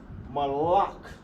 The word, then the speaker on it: malak: King in English is pronounced malak. Malak in the ancient. Ma, la, ka.